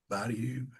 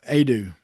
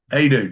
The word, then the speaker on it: Adu: I butchered his name. Jonasu. Yeah. Adu. Adu. Jonas Adu. Sorry.